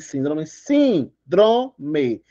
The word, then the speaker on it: síndrome: beleza eh e aí eu vou separar a sílaba de síndrome síndrome última penúltima anté penúltima é mais sorte por isso ela é acentuada fechou minha gente azul